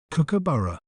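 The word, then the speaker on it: kookaburra: do we say its name correctly we may pronounce it as cabara cabara cook a b r cookaburra they are the largest member of the king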